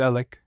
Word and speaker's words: Alex: Mrs. Alex, pronounced Alec, Stubblebine never forgave Mrs.